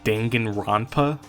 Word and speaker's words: Danganronpa: of the game as Dangan Rona cuz that's like the closest I could get to pronouncing it like uh like the original Japanese pronunciation.